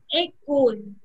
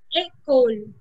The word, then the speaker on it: école: Now this accent can be placed on the letter E only, and it gives the A sound as in up. For example, école. a coal.